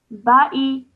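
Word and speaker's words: بآء: Ba'i. Ba'i. Yes, well done. Okay, so in this case, you do not pronounce the Alif Zada and you would remove it from your pronunciation.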